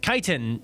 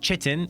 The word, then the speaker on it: chitin: Jerkins Harry Jerkins says it's pronounced kiten not chitin which didn't make it